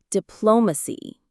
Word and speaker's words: diplomacy: This brings us to a much more positive word, our sixth one, diplomacy. Let's pronounce it together. Dpl. Let's break it down. dpl. The stress is on the second syllable.